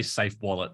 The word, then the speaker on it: SAFEW: I say Safe Wallet. Safe Wallet. Okay. It's SAFEW. So safe as F, Ergo Wallet.